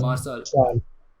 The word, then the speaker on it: Marçal: And speaking of Marcal, is that how you pronounce his name? Marçal? Marçal. Marçal, Yes. Yeah, Yeah. Marçal.